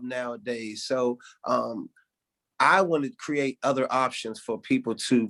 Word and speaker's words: KRIATE: I come and I represent my company, with name is Create You, and that's spelled KRIATE, and it's an acronym that stands for Kids Realizing Initiative and Talent Evolves.